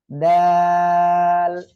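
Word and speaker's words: دال: দাল। জিহ্বার আগা সামনের উপরে 2 দাঁতের গোড়া লাগিয়ে উচ্চারণ হবে দাল, এভাবে উচ্চারণ হবে।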